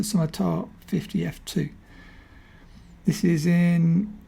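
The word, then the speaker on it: Summitar: see that's the Scimitar I said it wrong in the last video. I said Summerit. It's the Summertar 50 f2.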